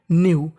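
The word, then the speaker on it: know: उनमें से एक न्यू न्यू न्यू का मतलब जानता था दे देख अगर आपको कभी भी एन से पहले के लिखा मिल जाए तो हमें के का उच्चारण नहीं करना होता न्यू न्यू का मतलब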